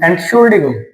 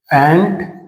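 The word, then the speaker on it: Entschuldigung: Next rule होता है यू एन जी वाला, जिसकी साउंड क्या आती है? उंग। पर यह ध्यान रखना ये सारे आम एंड के हैं, मतलब स्पेलिंग के लास्ट के ही रूल हैं। स्पेलिंग के लास्ट के अंदर जब आए तब ये वाले रूल अप्लाई हम करते हैं। यू एन और जी, उंग। For example एंटशुल्डिगुंग, एंटशुल्डिगुंग।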